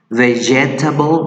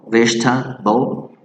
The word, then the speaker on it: vegetable: Vegetable, no, vegetable, right?